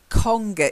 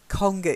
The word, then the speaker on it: conger: the Sea this one conger eels conger eels Congo and then fishes